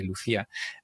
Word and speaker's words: Lucia: For me, it's a Spanish name, so I say Lucia, the authentication library.